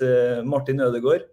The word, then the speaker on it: Martin Ødegaard: It's Martin Ødegaard. So it's but we have this letter, the O with a line over it.